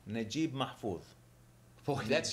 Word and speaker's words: Naguib Mahfouz: How do you pronounce author, that name? Naguib Mahfouz.